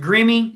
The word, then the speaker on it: Grimmy: I believe his last name's pronounced Grimmy.